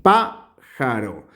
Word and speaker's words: pájaro: sílabas son tres eh Y dónde se pronuncia con la mayor fuerza de voz aquí pájaro eh Y enumeramos un dos y tres y Recuerden que si le llega la mayor fuerza de voz a la número tres siempre ponemos una tilde sin dudarlo bien la palabra ejército